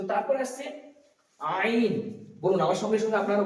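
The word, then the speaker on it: عين: তো কণ্ঠনালীর মধ্যস্থল থেকে উচ্চারিত হবে আইন।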